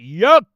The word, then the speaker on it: Yahweh: In the Shemitic Hebrew dialect language, alphabets, Yohe Wahi. And we pronounce it Yahweh. That's how we pronounce it, my brothers.